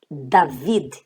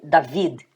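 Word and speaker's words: דוד: David. David significa Davi, né? Ou você pode mesmo colocar normalmente o nome David.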